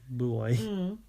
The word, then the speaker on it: buoy: Boy. Yeah, it could be. We call it a boy, though. Yeah, that's funny, isn't it? Because that's what it's called. They just say it wrong.